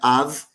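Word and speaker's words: אב: Então, o pai, Aleph, Bet, Av, em hebraico, né, que na verdade é AB, mas se pronuncia Av, pai, tudo que vem depois é sujeito a esse modelo.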